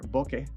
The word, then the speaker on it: bokeh: makes for nice circular bokeh and yes that's actually how you pronounce it it's japanese and the thread mount